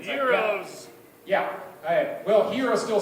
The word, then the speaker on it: gyros: a a Greek place at Gyros if you've pronounced that correctly zeros yeah well hero still